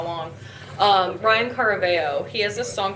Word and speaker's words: Caraveo: No, Ryan Caraveo.